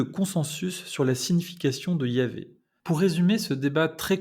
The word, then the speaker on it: Yahvé: Selon des auteurs grecs de l'Antiquité, qu'on appelle pères de l'Église, comme Clément d'Alexandrie au 2e, 3e siècle après Jésus-Christ, la prononciation était Yahvé, d'où cette tradition de prononcer Yahvé qu'on a conservée. D'autres auteurs chrétiens mentionnent la prononciation Yahou, Yahoo.